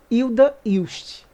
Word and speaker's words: Hilda Hilst: pesquisa obviamente e descobri que na verdade a pronúncia correta de acordo com a própria autora é Hilda hilst agora como já ficou tão naturalizado o modo